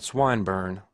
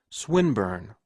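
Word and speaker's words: Swinburne: swatted meant this man swine bur he began attempting to put his plan into execution and pronouncing the eye long who swinburn he repeated with the same mispronunciation the poet swinburn she corrected yes that's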